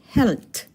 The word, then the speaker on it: Held: Health. Health. Take note. The D at the end of the word is pronounced as T.